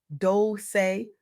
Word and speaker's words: Dolce: I'm your host, Dolce, pronounced Doce, like sweet softness, whispered in French.